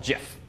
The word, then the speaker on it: GIF: googling and some Wikipedia the founders call it jiff so I've acclimated today